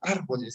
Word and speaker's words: árboles: Árboles, el mayor acento de voz tiene en la tercera sílaba contando de derecha a izquierda, y por lo tanto siempre, pero siempre se va a tildar.